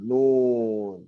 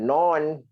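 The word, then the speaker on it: نون: Nun. Atau ejaan dia nun. Bukan non. Jangan non. Tapi nun.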